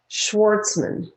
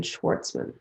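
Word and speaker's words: Schwarzman: more often right the next person is stephen schwartzman steven schwartzman and the last name is spelt s c s-c-h-w-a-r-z-m-a-n now he's a founder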